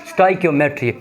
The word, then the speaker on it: Stoichiometry: करना चाहते हैं तो इसको आप लोग कैसे प्रोनाउंस करेंगे? स्टाइक्योमेट्री।